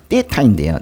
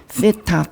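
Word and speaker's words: θ: 그리고 이제 요게 이제 떼타인데요. 떼타인데 세타, 떼타 뭐 다 돼요. 근데 얘 이제 보통 이제 쌍디귿으로 이제 발음하면 좀 비슷하게 나는데 어떤 경우는 이게 쌍시옷 있죠. 쌍시옷으로 이렇게 발음이 될 때도 있어요. 이제 비슷하게 우리 그 영어 발음할 때 세 하는 거랑 똑같아요. 그리고 그 발음 기호도 뭐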